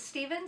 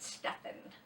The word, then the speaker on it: Stephen: Father by Stephen fried is it Stephen or Stefan some people pronounce it Stephen some people pronounce it Stefan okay I believe I